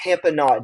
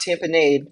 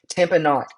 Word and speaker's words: tamponade: This is pronounced tamponade, not tamponade. It's not lemonade, tamponade.